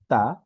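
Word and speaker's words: ت: আচ্ছা, পরে যে হরফটি তা। তা উচ্চারণ একদমই সহজ, বাংলাতে ত এর মতো উচ্চারণ হয়। আমাদের বাংলা যে ত একটি শব্দ আছে, ব্যঞ্জন বর্ণ, সে ব্যঞ্জন বর্ণ ত এর মতোই উচ্চারণ হবে, ত।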